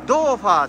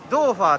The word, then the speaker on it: 豆花: ねーここがねドーファーって言ってね豆花って書いてドーファーって読むんやけど豆腐